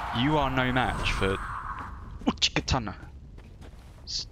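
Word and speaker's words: Uchigatana: Uchikatana.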